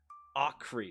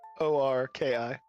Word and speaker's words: Orki: Okri. So Okri, correct? No, O-R-K-I. Orki.